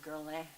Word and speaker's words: Guerlain: Okay, so we are talking about the palette gold from Guerlain. Guerlain is how they say it, but most people say Guerlain, so I'll just say Guerlain.